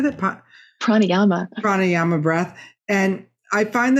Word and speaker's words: Pranayama: Pranayama.